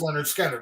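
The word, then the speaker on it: Lynyrd Skynyrd: Joe was your number six uh Leonard skard pronounced Leonard skard right correct awesome man awesome M Andy my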